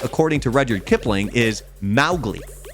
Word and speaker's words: Mowgli: But the way that you're supposed to pronounce it, according to Rudyard Kipling, is Mowgli. Mowgli, okay. Like the M-O-W rhymes with cow, not mo.